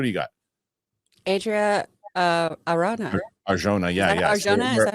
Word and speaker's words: Arjona: Arjona, yeah.